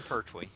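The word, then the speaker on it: Pertwee: Yeah, John Perwe.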